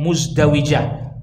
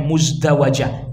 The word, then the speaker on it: muzdawijah: Wahiyallati tud'a bimuzdawijatiha, disebut dengan muzdawijah. Ada yang membacanya muzdawajah.